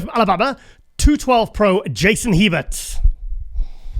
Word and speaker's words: Hebert: good start it's like heber it's um it's actually like like the letter a and bear so it's uh as a cajun name so that's why it's kind of pronounced a little bit weird oh that's cool that's